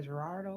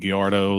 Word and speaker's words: Gallardo: I don't know what they're called, like a Gerardo or something. Well, I mean, it's got Lamborghini Gallardo, the Gallardo.